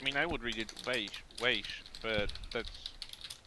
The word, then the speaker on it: Weisz: Rachel, whose last name I can't pronounce, will be in it too, according to Setalia. Rachel Weisz. Weisz, thank you.